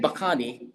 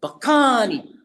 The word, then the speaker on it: Bacani: Instead of saying Bacani, say it like the Italians do. He said, Bacani. The accent on the Bacani, he says.